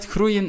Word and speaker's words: groeien: Groeien is a little bit difficult to pronounce because we got the G, which is G, then we got the O, E, I, E. So basically we've got four vowels which follow one another. So that can be quite confusing, so you pronounce it as groeien, groeien.